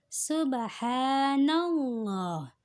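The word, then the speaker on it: الله: jalalah Apa itu yakni lam yang terdapat pada lafal Allah Hai dengan syarat lam itu tidak hulului teh dengan baca fathah atau dhummah Hai contoh subhanallah subhanallah dibacanya tebal Allahnya dibaca tebal Subhanallah Kenapa karena didahului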